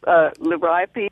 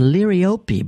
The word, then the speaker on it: liriope: It actually is supposed to be pronounced liriope because it's named after a Greek nymph or something like that.